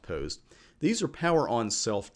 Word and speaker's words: POST: for a reason but mostly usually it's pronounced post these are power on